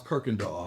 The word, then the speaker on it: Kirkendall: I don't even know how to pronounce Kirkendall. You just did it right.